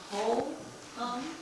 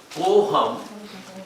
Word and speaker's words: Koham: Are you saying whole hum? Or what? Ko hum. Spell it. Ko hum. Ko hum means ko means who, and aham means I. Who am I? K-O. K ko. Ko.